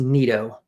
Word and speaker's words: Neto: My sneaky guy for tournaments that I really like is Zach Neto going up against uh Brian Bale. Okay, very good. It's pronounced Neato. Zach Neato.